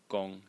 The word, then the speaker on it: 公: one is about the Chinese character pronounced Kong gong in the first tone and uh it meaning